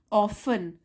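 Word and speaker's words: often: फिर से पढ़ेंगे ही ऑफ ऑफ इसमें टी साइलेंट होता है ऑफें मींस अक्सर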